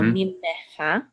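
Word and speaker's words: ממך: Mimcha. Mim. Oh, it's you pronounce. Oh, because of the dagesh right here. Okay, so mimcha.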